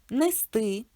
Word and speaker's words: нести: Слово ти дає підказку, що наголос падає на и: донести, нести, принести, перевести, перевести, віднести.